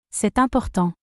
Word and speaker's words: c'est important: This sentence explains the rule of liaison in French, where a final consonant is linked to the initial vowel of the next word to make pronunciation easier. C'est important.